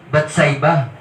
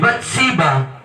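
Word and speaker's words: Bathsheba: ' ba he committed adultery pinagnasaan niya si batsa naliligo si batsa Tama ba bats nga ba pangalan siba Okay sorry mali ang pronounce ko si Bat siba nung naliligo nakita ni David nagkaroon siya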